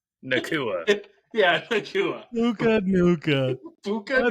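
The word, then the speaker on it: Nacua: and then Puka Nuka. Dude, I love Puka. I know I said his last name wrong, but Nakua.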